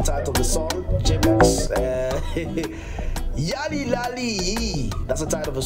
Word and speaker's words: Yalilaliyi: And I had to make sure that I know how to pronounce the title of the song. Jemax Yalilaliyi.